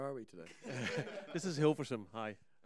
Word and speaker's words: Hilversum: This is Hilversum, hi. How do you say that? Hilversum.